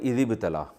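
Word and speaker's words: ابتلى: से निकला य ल जब मिलाकर पढ़ते हैं तो इस इ बतला को पढ़ते हैं इ बतला अलिफ साइलेंट हो जाता है व बतला इब्राहिमा रहु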